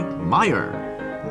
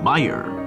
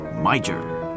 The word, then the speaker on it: Meijer: brought to you by Meyer Meyer it's not pronounced major